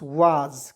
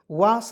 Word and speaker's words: was: देखेंगे WAS, वाज, क्या पढ़ेंगे? वास नहीं पढ़ेंगे। क्यों नहीं पढ़ेंगे दोस्तों? क्योंकि एस का उच्चारण यहाँ पे ज के रूप में हम लोग करेंगे, एस का उच्चारण स के रूप में भी होता है।